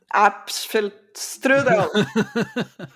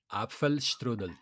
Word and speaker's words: Apfelstrudel: Mas a pronúncia está marcada assim, com apfel. Porque Apfel. depois, em português, a gente não pronuncia o L como L no fim, né? A gente pronuncia tudo como U. E isso Sim, também dificulta. Mas aqui na pronúncia está descrito com L.